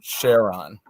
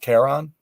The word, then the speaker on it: Charon: You know, I want to ask him where he got the name Charon.